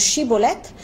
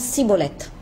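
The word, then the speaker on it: schibboleth: ça c'est un épi, ça se prononce chibolette, mais pour les Éphraïmites, ils ne sont pas capables de prononcer chibolette, ils prononcent cibolette.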